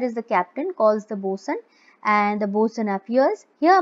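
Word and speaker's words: boatswain: Okay, enter a master and a bosun. This is the pronunciation of both swain is actually bosun.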